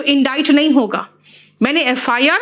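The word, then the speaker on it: indict: बेटा ये इंडिक्ट नहीं है प्रोनाउंसिएशन, इसका प्रोनाउंसिएशन है इंडाइट।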